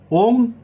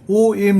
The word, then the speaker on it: ওং: সম্পন্ন করা বাঞ্ছনীয় মন্ত্র ওং হৃং হৃং হৃং ব্রাং ব্রহ্মচারীর নেই নম ওং আবার বলছি ও এনজি জি ও এম নয় ভুল উচ্চারণ করবেন না তাতে কিন্তু আপনি সুফল পাবেন না।